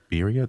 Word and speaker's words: birria: Birria tacos? I feel like the R's, I'm saying the R's wrong. Birria tacos.